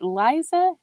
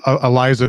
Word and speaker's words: Iliza: Is it Liza? It's Iliza Shlesinger. Iliza Shlesinger. See, now I'm learning how to pronounce these names.